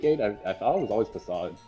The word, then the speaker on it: Facade: No, it's actually facade. Oh, if if you got rid of that. I definitely remember pronouncing it fake in my like super early days.